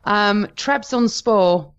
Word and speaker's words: Trabzonspor: Trabzonspor. I can't believe you pronounced that the way you did.